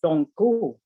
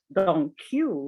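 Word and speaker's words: Don Q: which one i mean the one that i pronounce don gu you say don't cue like thank you but i know how to pronounce it why else ever pronounce it another way you know what i mean though maybe you can't because you never studied el castellano still that's how it's done in puerto rico or spain or any of the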